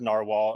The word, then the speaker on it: Nrwl: So it's pronounced Narwhal, but you can call it whatever you want, Nrwl or Nrwl. I'll know what you mean.